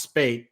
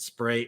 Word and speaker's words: Spaight: i mean i know it's not easy to pronounce spate but you know people want to make it spray or put an r or something in there so that was suspicious